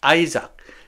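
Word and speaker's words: Isaac: 부르다는 동사로 쓰였네요 그래서 그들 선 아들을 아 아이작 자 우리 우리는 이삭이라고 하는데 영어식 발음은 아이입니다 그래서 그들이 그들 아들의 이름을 이삭이라고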